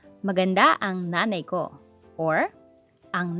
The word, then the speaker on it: maganda: Next, maganda. Guwapo. Maganda, stress on da, while guwapo on the first syllable.